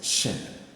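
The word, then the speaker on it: שׁין: the next one is shin the the dot has shifted from here to here so it is pronounced as sh sh so it's like sh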